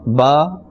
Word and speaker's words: ب: Alright, and only 4 letters from these 29 letters are pronounced from the lips, and those letters are ba, fa, mim and waw. Besides these 4 letters, no other letter must be pronounced by moving the lips.